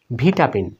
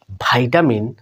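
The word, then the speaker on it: vitamin: 3 নাম্বারটাতে দেখুন বন্ধুরা, জনপ্রিয় একটি শব্দ ভিটামিন। আমরা ব্রিটিশটাই কিন্তু শিখে থাকি ছোট থেকেই, ভিটামিন। কিন্তু কেউ যদি বলে ভাইটামিন, তখন কিন্তু আমরা অ্যাস্টনিশ হয়ে যাই, অ্যামেজিং হয়ে যাই, বোকা বনে যাই।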